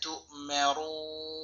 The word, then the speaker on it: تؤمرون: আছে হামজা সেটাকে ধরেছি মা তু মিম জবর মা রাও পেশে বাম পেশে যা সওয়াল ওয়াও টেনে পড়তে হবে নুন জবর না তু মারুনা অক্ফ সময় নুন সাকিন হবে এবং এখানে তিন লম্বা করতে হবে, উচ্চারণ হবে فافعلوا ما